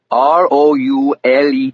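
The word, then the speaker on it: Roulet: "That would be Lewis Ross, R O U L E T." He spelled it and I wrote it down on a legal pad. Almost like the spinning wheel, but you pronounce it roule, he said.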